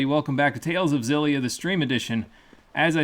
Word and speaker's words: Xillia: I said last time it is probably pronounced exilia because that's what Japanese people say but I am not Japanese I am English so it is like a zillia last time we began